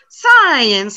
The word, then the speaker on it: science: since science and again since one syllable science has two syllables so i've been here